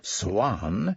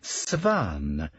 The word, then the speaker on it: Swan: she had to say, instead of pronouncing the name as Swan, she said Svan, a change, as she soon realized, for the worse, since it made this name of English origin a Germanic patronymic.